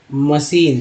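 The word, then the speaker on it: machine: Pipe, मशीन, सी एच को यहाँ पर सी एच को श बोलते हैं, मशीन, सी एच को भी स बोलाते हैं, ये भी एक समझिए इस बात को।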